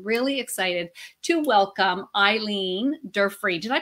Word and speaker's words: Durfee: I'm really excited to welcome Eileen Durfee. Did I pronounce that properly? It's Durfee. Durfee.